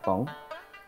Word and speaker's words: 甭: 如果把不用说得很快，发音也很像甭，这种字儿叫合音字儿。